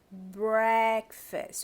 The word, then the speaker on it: breakfast: Nós paramos de servir breakfast. Olha como é bem aberto. Breakfast. O stress ele tá todo aqui.